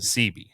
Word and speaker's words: Seabee: So CB, it's spelled SEABEE, right? Okay. But it really stands for the letter C and the letter B, Construction Battalion.